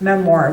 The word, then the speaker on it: memoir: That is not the way you pronounce memoir, by the way.